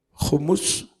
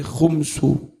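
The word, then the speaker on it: خمس: Khumusahu bidhammil mim, dengan mendhammah mim, wa iskaniha, juga dengan mensukun mim. Membacanya boleh khumus, boleh khumsu, boleh khumusun, boleh khumsun. Maknanya 1/5.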